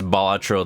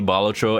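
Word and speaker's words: Balatro: I I pronounced bolatro the way that it's supposed to be, not bolatro.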